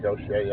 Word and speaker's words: Gautier: Gautier, I would say go Gautier. I don't know how you say that, but they say it's Gaucher.